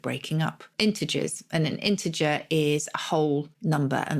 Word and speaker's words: integer: And you pronounce it integer, not integer. I say integer, yes. But probably either is allowed, is it? Yeah, just the soft G is given integer.